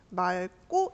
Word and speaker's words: 맑고: 근데 얘가 말고 이렇게 리을 기억 받침 다음에 기억이 오면은 맑고 이렇게 발음이 리얼 뒤에도 된 소리 나야 되니까 맑고 이렇게 되는데요.